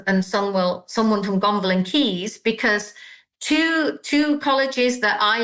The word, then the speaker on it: Caius: And there's one, Gonville and Keys has Key School, which actually is spelled CAIUS School on Instagram.